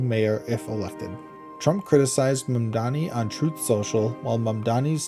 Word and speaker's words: Mamdani: From Fox News, Zohran Mamdani fires back at White House mispronouncing his name, Mamdani. Zohran Mamdani, New York City mayoral candidate, clapped back after the White House mispronounced his name as Zamdani in a viral TikTok set to Hollaback Girl.